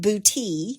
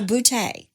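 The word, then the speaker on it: Boutte: GNA say it I also saw where some pronounce it boot okay but it's named for Andre Claude boute of France so boute nice bout I'm trying to say all of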